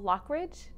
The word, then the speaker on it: Loughridge: sustainability, and it's Loughridge. Pronouncing that right? That's right, yes. Okay. Like we were saying, like Loch Ness Monster.